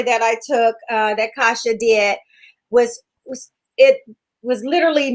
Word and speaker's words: Kasia: pronounce her name correctly close kind of close it's kasha oh kasha okay yeah